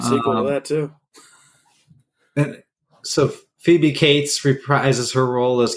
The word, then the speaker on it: Phoebe: was considered a babe isn't it fobby phobe Phoebe I don't know you could be right I'm just joking it's spell it's Phoebe it's funny that you